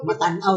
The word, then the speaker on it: Matanao: matanaw o ano pa ah mataw matanw siya ang correct pronunciation matanw taga matanw kayo mat oo